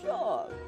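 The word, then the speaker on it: Seam: The name C, pronounced Sean.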